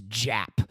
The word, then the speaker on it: Japp: Lestrade, and for Poirot, it is Inspector James Japp, and they are plotting Japp.